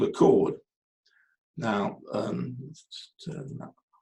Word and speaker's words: chord: Chord is spelled like that with an H in, and you don't use the H, you just say chord.